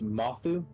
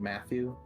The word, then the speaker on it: Mathu: So it's Mathu, pronounced like a U. Mathu, yeah, Mathu Anu Dailu, yeah, Mathu. Okay, I apologize. I've been saying it Matthew, like Matthew.